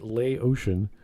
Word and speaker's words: Laotian: louisian whereas yeah that was funny whereas he pronounces it lay ocean while the other characters think he's japanese yeah